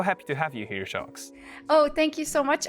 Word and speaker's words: Sjokz: I'm so happy to have you here, Sjokz. Oh, thank you so much, and really good pronunciation on my name, by the way.